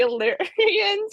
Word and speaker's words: Illyrian: The Illyrians or something like that?